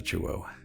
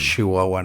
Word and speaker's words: Chihuahua: en méxico de que pronunciamos mucho las es que lo pronunciamos más como una de sh no decimos chihuahua no sé él era